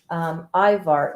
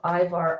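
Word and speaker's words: ajvar: a little drop of ivar on the top an eyebar in case those of you who don't know ivar is a um it's spelled a j v a r i totally just did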